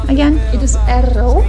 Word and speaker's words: Erro: Wait, how do you pronounce his name again? It is Erro. Erro.